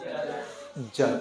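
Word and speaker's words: judge: जज क्या पढ़ेंगे इसको ज जज यहां जज में डी साइलेंट रहेगा यहां डी को साइलेंट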